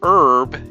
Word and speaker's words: herb: The French style for herb is to drop the H, but the French spell it H-E-R-B-E.